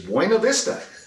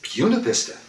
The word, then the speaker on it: Buena Vista: i can speak spanish and i know that b-u-n-a-b-i-s-t-a is buena vista and he said phil it is everywhere else but in virginia here it's puna vista i think at the